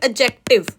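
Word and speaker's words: adjective: डी की sound नहीं आनी चाहिए। इट्स एडजेक्टिव। What is इट्स एडजेक्टिव। बोलने में आप ऐसे बोलोगे एडजेक्टिव।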